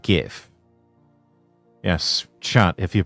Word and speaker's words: GIF: Oh, yes, it's pronounced GIF.